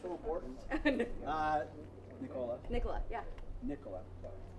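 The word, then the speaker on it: Nikola: Nicola. Emphasis on the first syllable. It's like Nicola.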